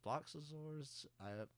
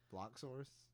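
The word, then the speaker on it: Bloxorz: Well, you're adding like 2 syllables to that. name. Bloxazors. Is it Bloxors? Bloxors. B-O-L-O. I'm saying Bloxazors. I know why. I don't know. It has 6 letters in it. Bloxors.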